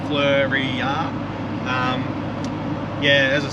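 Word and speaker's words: Fleurieu: I say the right we looked it up how to pronounce it before we went to Kangaroo Island so every time I say it now I kind of say flurry yeah yeah as I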